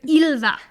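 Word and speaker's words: Ylva: or something like that it was y LV a y LV yulva it was Ila Ila Ila Ila Ila again listening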